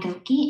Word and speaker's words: Goeke: analysis stepped analysis across three similar contexts goka which i probably butchered the name apologies about that from the department of educational psychology hello my name is gokey and i'm a phd student in the department